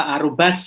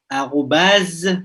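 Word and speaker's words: arobase: On ne prononce pas arrobas ya, arrobase parce que S entre deux voyelles.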